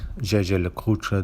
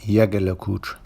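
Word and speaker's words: Jaeger-LeCoultre: Now, some of you may be wondering why I pronounced Jaeger LeCoultre the way I did, as others pronounce it as Jaeger LeCoultre. And there are many discussions on this topic without any definitive answer. The company on its official videos itself actually pronounces it Jaeger LeCoultre.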